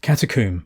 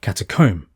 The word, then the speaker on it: Catacomb: culture by the way in England we pronounce it katum rhyming with tomb in America they say catacomb the earliest evidence for